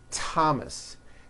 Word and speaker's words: Thomas: with a t H they are pronounced as if they were spelled with a normal T TT like that and these words are Thomas Thompson Teresa Thailand TS